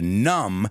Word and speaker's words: numb: And to numb is a word with a silent B.